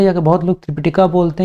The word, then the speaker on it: त्रिपिटक: अब चलिए, सॉरी त्रिपिटक होगा यहाँ पर सही प्रोनाउंसिएशन।